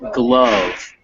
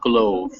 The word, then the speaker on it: glove: And the final word is glove, not glove. Glove? Yeah, glove. It has a silent E, but it's not pronounced like it had a silent E.